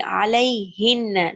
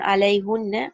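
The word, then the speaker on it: عليهن: Ala plus hunna will be alai hinna. Not alai hunna. Alai hinna. That's how the Arabs spoke.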